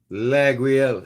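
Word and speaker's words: Laguiole: Laguel. It's a French name.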